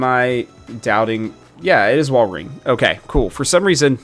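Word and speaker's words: Walrein: at why am I doubting yeah it is wal ring okay cool for some reason my brain was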